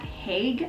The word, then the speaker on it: Haig: It's by Matt Haig, I think that's how you pronounce his last name, H-A-I-G.